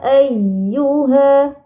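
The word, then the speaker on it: أَيُّهَا: Kemudian setelah itu ada kata ayyuha, ayyu. Nah, di sini ya bertasydid. Maka harus ditekan bacanya. Ayyu.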